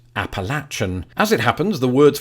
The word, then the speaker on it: Appalachia: and South Region so does that mean that Appalachia the usage of most Americans and let's face